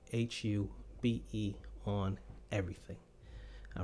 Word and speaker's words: RiHuBe: boys and girls, and welcome to the first RiHuBe podcast. That's how that's pronounced, in case you're wondering. One word, but you got to put it in more than one word on Facebook. Look me up, RiHuBe, RiHuBe on everything.